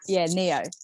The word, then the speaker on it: Neo: It's Neo. That's my Vietnamese name. Not it's a Vietnamese name. Neo. But it's pronounced Neo. Yes, the Matrix.